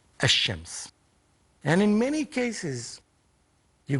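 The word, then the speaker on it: الشمس: to read the word, this L is not pronounced. This lam is not pronounced. Like, for example, Shams, when you put alif lam before it, it becomes ash-Shams.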